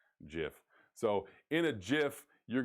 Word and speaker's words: GIF: It's not a GIF. It's spelled GIF, but it's actually pronounced GIF.